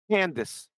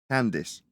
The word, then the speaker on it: Candace: Candace. Candace. Yes. Perfect. Candace. Got it. At least I'm not getting a surname wrong.